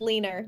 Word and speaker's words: Lener: It's pronounced Lener, my last name.